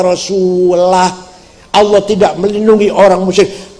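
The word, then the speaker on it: وَرَسُولُهُ: Wa annallaha bari'um minal musyrikin wa rasulih. Allah tidak melindungi orang musyrik dan tidak melindungi Rasulullah. Salah. Bacanya harus wa annallaha bari'um minal musyrikin wa rasulah.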